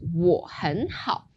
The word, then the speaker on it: 我很好: So that goes 我很好.